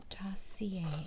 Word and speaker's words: Dossier: And remember to say our name is to say Dossier. That's how you pronounce it.